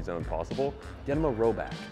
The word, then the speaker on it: Rhoback: possible get them a robot that's spelled r h o b a c k and we have a